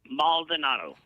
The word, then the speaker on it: Maldonado: me I don't want to say it wrong Maldonado Jo Joseph Maldonado because that's who he really